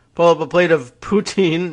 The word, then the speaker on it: poutine: up a plate of poutine not putin but poutine though they do spell it the same way and uh well kegger